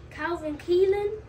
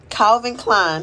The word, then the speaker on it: Calvin Klein: Calvin Keelan. Calvin Klein, child. Calvin Keelan. Who she like? Her mother pronouncing things wrong.